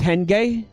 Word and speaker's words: henge: naruto can't henge right it's pronounced hen gay hen gay i'm gonna continue to pronounce it henge because it amuses me